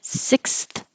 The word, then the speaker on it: sixth: forward for the th so there's a lot of movement in that small word sick so I have to slow down you should slow down sixth Sixth and if you